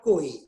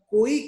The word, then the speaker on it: koi: Koi can be 2 syllables also, ko-i. It can be 1.5 syllable, koi. It's not 2, koi. Now, in different songs, koi word is used either like 2 syllables and in some 1.5.